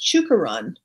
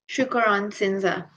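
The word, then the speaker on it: Chuokoron-Shinsha: It's Chukaran. Chukaran. Probably not saying that right. Oh no, it's pronounced. It's spelled CHUOKORON hyphen Shinsa. Okay. Shukaran Sinza.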